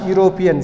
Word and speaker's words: European: He is dash European. See children here, even though this word starts with a vowel letter E, but the pronunciation of this word, this is U.